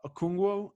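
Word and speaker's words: Okongwu: Yeah, Okungwu, I think is how you pronounce it.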